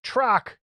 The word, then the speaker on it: Trock: It's pronounced Trock, a rock with a T in front of it.